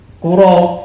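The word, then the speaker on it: قُراب: Qurab di dalam hadis ini bidomil qaf, ya, dengan mendomahkan huruf qaf, dan bisa juga kita membacanya dengan mengkasrohkannya, kiro, ya. Wadomu ashab, dan dengan mendomahkan ini lebih umum.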